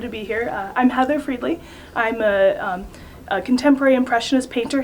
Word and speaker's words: Friedli: I am here with one of my favorite friends, Heather Friedli. Is that correct? That is Have I correct.